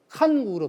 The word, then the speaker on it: 환국: 환국은 당시에는 우리 발음이 환국을 환국으로 발음하지 않고 칸국으로 발음했습니다. 칸국.